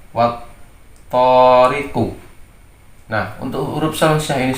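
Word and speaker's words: وَالطَّارِقِ: Bacanya menjadi wattariqu. Jadi bukan wal to, jadi lamnya tidak terbaca. Wattariqu.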